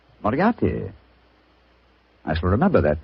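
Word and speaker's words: Moriarty: it or mispronounce it, I'm afraid I'll have to begin calling it the way it looks. M O R I A R T Y. Mariati. Mariati.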